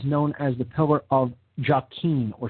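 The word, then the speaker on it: Jachin: as the pillar of jockeying or sometimes pronounced yakin that's j-a-c-h-i-n and it leads to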